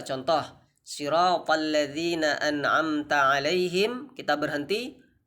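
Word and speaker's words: صراط: Sirata. Nah, jadi harus sempurna pengucapan si. Jadi sirata, huruf ta, huruf tebal.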